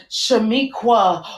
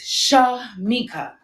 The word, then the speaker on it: Shamika: j woods but allowed what you really read was shamiqua or shalamikwa or sacajawea or chiquita none of which are my name so let me spell it out for you for those who haven't gotten it yet my name is sha mika s for the sands